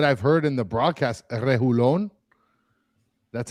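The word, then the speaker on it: Reguilón: I thought it was Region, but then people were saying it's not double I-yon, it's Lon.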